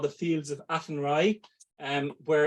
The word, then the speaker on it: Athenry: explain and how to pronounce Oh, sorry. It's the Fields of Athenry, Julie, or the fields. Fields of Athenry.